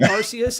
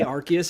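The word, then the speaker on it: Arceus: Yeah, I mean I I like Arus and I hear people say Archus and I'm like that sounds wrong.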